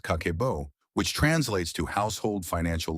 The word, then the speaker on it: Kakeibo: In 1904, Japan's first female journalist, Hani Motoko, created a system called Kakeibo, pronounced Kakebo, which translates to household financial ledger.